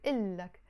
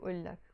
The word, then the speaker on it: إلك: we added the أك, we're not going to say شو أولك. No, we have to pronounce it إلك instead of أولك. we remove this o.